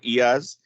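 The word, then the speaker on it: IaaS: infrastructure as a service or years as we usually pronounce it a pass or platform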